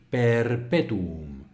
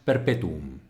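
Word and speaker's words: perpetuum: apnea perpetum perpetum vale esta palabra se dice así Perpetuo no es perpetum Perpetuo no es así no es como la diríamos en español Perpetuo alargando simplemente la u son cuatro sílabas distinguidas acentuada en la penúltima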